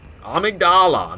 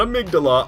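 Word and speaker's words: Amygdala: I'm on my way to amydala amigdala amydala amydala not amigdala Amala I I have a hard time pronouncing it batches in bloodborne 2o um he's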